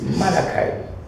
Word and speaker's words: Malachi: So pronounce it correctly is Malachi. Malachi.